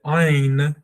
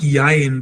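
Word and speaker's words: עין: I would say that you need to pronounce it like this. Ayn, ayn, ayn, ayn, ayn, ayn, not yain, but ayn, ayn, almost like it's got a G in front of the Y.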